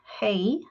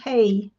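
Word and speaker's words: hej: it's not a it's the pronunciation might be more like hey but it's it's with a j so i i don't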